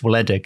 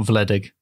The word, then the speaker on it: Wledig: I think it's Wledig, isn't it? Not Wledig.